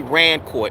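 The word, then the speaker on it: Rancourt: His name is Denny Rancort. And Denny is spelled D E N I S Rancort.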